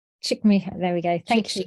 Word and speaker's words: Csikszentmihalyi: It's Csikszentmihalyi.